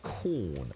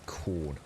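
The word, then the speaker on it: Quorn: his wife basically uh picked up um some corn sausage rolls by accident at the supermarket last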